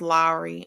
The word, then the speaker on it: Lowry: me, and it's pronounced Lowry. I know. Someone told me it's pronounced Lowry. Lowry. That's what they told me.